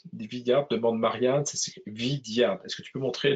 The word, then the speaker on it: Vidyard: C'est pas non, c'est pas Vignard, Vidyard, demande Marianne, c'est Vidyard.